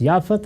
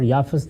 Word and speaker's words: یافت: ہے اور ایک یافت۔ یافت اور یافس دونوں تلفظ ہیں، اسی طرح سم اور